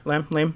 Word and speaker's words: Lam: Lam?